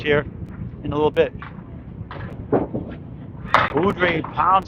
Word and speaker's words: Beaudry: And Craig Beaudry. Beaudry is Beaudry.